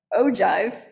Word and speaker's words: ogive: rocket is called an ogive although it's pronounced ojive but it's the letter O and give I know he would